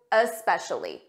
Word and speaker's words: especially: first let's review especially notice that uh especially uh especially for pronunciation it's a very soft difference and you might not hear it at a natural pace and I know some students they add an uh at the front of s's so when you try to say especially make sure you don't add that uh and make it sound like especially so repeat